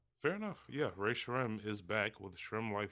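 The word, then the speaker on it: Rae Sremmurd: Ray Shremmond? I just say Ray Shrem because that's the way they say it. Fair enough. Yeah, Ray Shrem is back with Shrem Life 4.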